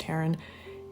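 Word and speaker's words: Hearon: podcast by Caleb Haron he spells it differently but it's pronounced Haren who is like the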